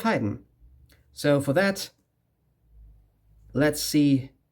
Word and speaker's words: Haydn: German Joseph Haydn - or maybe English speakers say Hayden, I'm not pretty sure; in German it's Joseph Haydn; so for that let's see what's up in Brussels!